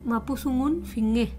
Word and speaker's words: mapuzungun: de weitra un habla el mapuzungun que se pronuncia mapuzungun buenísimo Estamos con el